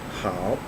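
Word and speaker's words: hǎo: good or well so good is pronounced how and like in the last one it is using the third song and it that's pinion form is h a oh character form of it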